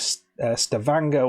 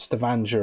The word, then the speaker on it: Stavanger: in the town of Stavanger which rhymes with hangar not Stavanger as I've been saying